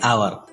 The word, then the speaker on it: hour: An ant, an enemy, an ice cream, an orange, an umbrella, an hour. Notice the word hour. As H is silent here, hour starts with a vowel sound.